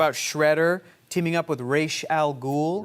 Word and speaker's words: Ra's al Ghul: And look, growing up, I thought it was Roz.